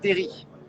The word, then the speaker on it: terril: on ne dit pas qu'on prononce pas de l non normal on deale terry oui voilà d'entrée ils